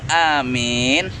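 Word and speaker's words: آمين: Dalam pengucapan amin, kalau kita memang enggak, oh ya Allah Robbi, wih, udah yang lempar-lempar. Ini abah kotor nih. Amin. A-nya jangan salah-salah pengucapan amin. Benar-benar A-nya panjang, mimnya panjang. Amin.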